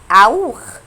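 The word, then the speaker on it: auch: الكلمه دي اللي تسي ها هنا يتنطقوا خا، ودي قاعده هناخدها بعدين، خلينا بس عارفينها دلوقتي. هتتنطق ازاي؟ اوخ. اوخ. طب والكلمه دي كاكاو.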